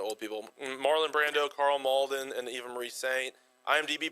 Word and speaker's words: Malden: I We typed pronounce it, anyway we but want. you typed I thought it was Maddo. You don't know? It's Carl Malden.